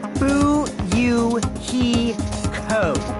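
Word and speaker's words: Fuyuhiko: last name is my first name is pronounced boo you he code i'm still an inexperienced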